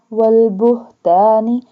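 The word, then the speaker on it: والبهتان: Wal-fawahishi wal-buhtani, this ha, this one ha, pronounced from the bottom part of throat.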